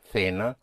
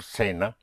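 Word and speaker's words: cena: Then the C before E like a th sound. Thea or sena is dinner sa and to dine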